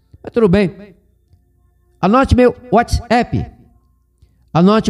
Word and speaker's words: WhatsApp: pessoa Boba sou inteligente porque isso é inglês e a pronúncia é Whatsapp Whatsapp como eu sei que é inglês eu prefiro pronunciar ente respeitando a língua inglesa na Inglaterra não passou